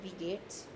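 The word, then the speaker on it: wie geht's: you can just say we gates. Alright, instead of we gate s, you just drop the s and you put an apostrophe s. So that's we gates. Alright, that's the pronunciation we gates.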